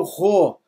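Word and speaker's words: ῥῶ: também grega coine Aqui nós temos o Ro alguns T outras pronúncias Mas nós vamos botar aqui corresponde translit como R de respeito Não é isso é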